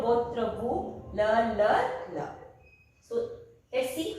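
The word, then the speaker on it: leur: And for ils and l, that means they, that is L-E-U-R, le.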